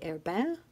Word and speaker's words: Herbin: I always want to say it with my very poor French accent, but I've heard it pronounced J. Herbin, but I think you'd say Herbin in French.